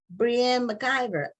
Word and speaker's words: Breanne McIvor: and I guess this Brienne McIver um hopefully I'm pronouncing your name correctly it could be but she will tell us what her how her name should be pronounced and we welcome her to like on this matter TV thank you so much for having me and yes you pronounced it perfectly oh okay and you